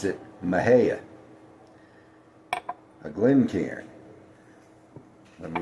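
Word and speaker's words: Mexia: town that's spelled M Xiai A, but you pronounce it Maha, a Glen Karan.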